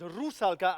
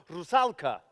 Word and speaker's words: Rusalka: Notice it's Rusalka and not Rusalka. All stress in Czech is on the first syllable, which is something I